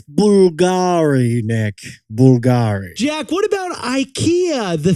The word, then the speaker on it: Bulgari: Bulgari the fashion brand how is it really pronounced it's Bulgari Nick Bulgari Jack what about Ikea the furniture brand how's